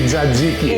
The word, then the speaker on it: Tzatziki: let's get whipping up some tzatziki. Sounds good. Tzatziki. Tzatziki. Make sure you pronounce it properly out there. Bonus points for you non-Greeks who say Dzadziki.